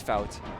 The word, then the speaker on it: Flout: No, it's not pronounced Foot. It is. It's Flout. F-out.